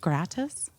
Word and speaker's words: gratis: just kind of like it would just be gratus is that how you say it gratis Grace yeah Grace um you know obviously in